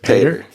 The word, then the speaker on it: Pater: I don't think I've ever heard the correct pronunciation of your last name is it Pater Vader yeah okay so Mitch why don't you